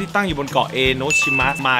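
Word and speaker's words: 江ノ島: เ ซื้อ อี โนชิ เป็น ความ เข้า ใจ ผิด นะ ครับ อ่าน ว่า เอโนชิมะ ไม่ ใช่ ใช่ อย่า เถียง อย่า เถียง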